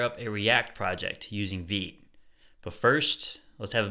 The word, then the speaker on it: Vite: with Vite it's pronounced V and in this video I'm going to show you how to use react with vit which is a French word for fast I don't get it